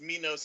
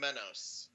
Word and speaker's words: Menos: you and there and some people actually mispronounce that my name is minos instead of menos oh yeah sade